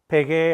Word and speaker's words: pegué: Obviously, there's some common verbs here like pagar, I paid, llegué, I arrived, pegué, I hit, jugué, I played, entregué, I turned in, I handed in.